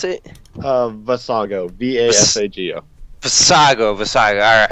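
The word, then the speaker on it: Vasago: what's your name exactly again how do you pronounce it uh vassago v-a-s-a-g-o sago versailles all right yep for saga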